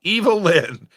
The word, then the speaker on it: Evelyn: Evelyn says, my name is English. Pronounced Evil Lynn.